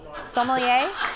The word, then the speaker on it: sommelier: Sommelier? See, I pronounce it, I've been pronounced No, you say sommelier.